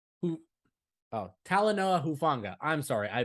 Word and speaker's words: Hufanga: you say his last name who oh Tylenol hufanga I'm sorry I butchered his name he's been a beast he